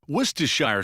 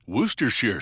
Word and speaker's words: Worcestershire: Tongue twister. Woristershire sauce. Worooershire sauce. Woristers sauce. All those pronunciations are acceptable as are the endless ways to use this condiment.